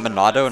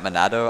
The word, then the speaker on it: Monado: chats going off just enough how do you pronounce monado pride Noah Lett no what is it what at minna is in Manado not monado I don't know I'm in and OH arts